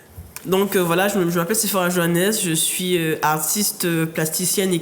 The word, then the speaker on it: Joannes: Et maintenant, on a donc on a Sephora Johannes, c'est comme ça qu'on prononce? Johannes, oui.